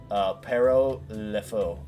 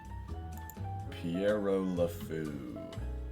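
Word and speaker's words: Pierrot le Fou: Pero Le Faux. That was an interesting one. Hang on, how do you pronounce this? Oh wow, that's awesome. I love that. Piero Le Faux. Piero de Fou.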